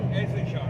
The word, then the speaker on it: Issachar: Issachar, huh? It's a car. Yeah. We'll get there, brother. Well, the H is silent.